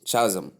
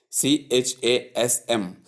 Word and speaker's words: chasm: Wrong pronunciation is chasm. Please note the difference between chi and even though the word is spelled as c h c h a sm. The right pronunciation is chasm and not chasm.